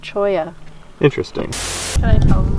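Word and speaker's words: cholla: Chawla cactuses? It's pronounced Choya.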